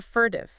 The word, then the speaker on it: furtive: Compare it to fertive. Fertive is two syllables. Sharp, quick, like the glance itself. Serptitious is four syllables. It takes time to say.